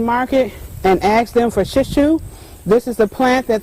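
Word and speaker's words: shiso: It's called, the name they use it, call it under is shishu. It's spelled S-H-I-S-O. If you go to an Asian market and ask them for shishu, this is the plant that they'll use.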